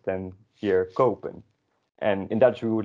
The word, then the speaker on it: kopen: buy, and it's pronounced kopen, not koppen, because the O is followed by a P and then an E.